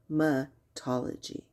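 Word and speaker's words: hematology: It is hematlogy. He not he.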